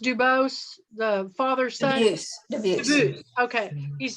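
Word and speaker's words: Dubus: and he's done both uh the is it pronounced dubose the father-son yes okay he's done both of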